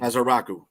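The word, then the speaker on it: Ezeiruaku: I don't know how the pronounce his last name. It's Russ from Boston College. Is a Rocku. I've been practicing. Azaraku.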